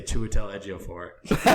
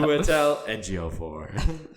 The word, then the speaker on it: Chiwetel Ejiofor: There's like Google pronunciations of names, and it's how I learned how to say Chiwetel Ejiofor. Yeah, right. I forgot about that. Chiwetel Ejiofor.